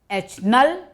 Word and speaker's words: H0: as the null hypothesis we often denote null hypothesis as h0 and pronounced as H naught H null or h0 it is also called